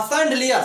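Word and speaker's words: chandelier: C plus H हो तब उसको सभी बोल सकते हो। यहां पर देखिए जैसे सीख, सीख मिस होता है ठाठ। सूट, सूट मिस होता है ढलान। सायले, सायले मिस होता है बंगला। सेफ, सेफ मिस होता है महाराज। और सैंडलियर, सैंडलियर मिस होता है झूमर। अब यहां पर सी एच का ध्वनि स है।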